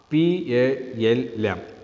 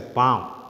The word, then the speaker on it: palm: This portion is known as the palm. P-A-L-M. But in that word, L silent. The pronunciation is a palm.